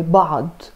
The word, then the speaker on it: بعض: So make sure to pronounce it like in a strong way, بعض, rather than بعض.